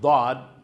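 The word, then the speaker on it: ض: Sa so dito dad.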